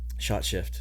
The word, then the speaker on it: Skjøtskift: Shot, like a shot. Mm-hmm. Yeah. Shift. Shot shift.